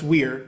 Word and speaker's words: vir: Well, virtue comes from the Latin vir, which you can't pronounce vir, but it's wir. Latin has W's that sound like V's, but it means man.